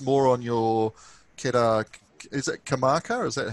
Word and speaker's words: Karmarkar: do you post more on your is that kamaka is that how it's pronounced yeah yeah yeah with facetime or do